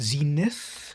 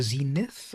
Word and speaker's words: Zenit: Is it Zenith? Leica Zenith or Zenit? Whoops. Let me spell this properly. No, it is Zenit. Zenit? Am I saying it right? A Zenit, Russian.